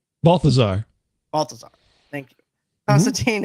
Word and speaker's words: Balthazar: killed by a half-breed demon named Balazar. Say his name? Balthazar.